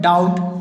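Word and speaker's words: doubt: एक और है, अगर किसी वर्ड में बी टी के पहले आता है, यहाँ पर बी को टी के पहले लाना है तो बी साइलेंस हो जाएगा। यहाँ पर देख सकते हैं आप डेट, यहाँ पर बी साइलेंट है। डाउट, इसमें बी भी नहीं पढ़ा हमने।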